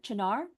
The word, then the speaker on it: Chinar: Um, Cha Chinar, Chinar, let me know if I pronounced your name correctly. Yeah, you're right.